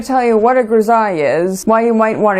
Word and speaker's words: grisaille: And if you see this word written, you might think it's pronounced grisaille, but no, it's pronounced grisaille.